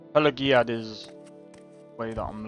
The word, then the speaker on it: Pelagiad: Pelaziad. That's how you pronounce it, Pelaziad. But that's G. It's got a G in it.